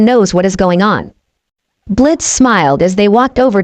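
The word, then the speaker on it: Blitzø: Name's Blitz." The O is silent.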